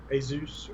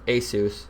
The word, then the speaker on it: Asus: Yeah, I think it's called Asus, or is that how you say it? How do you say it? Asus. Asus. That's how I say it.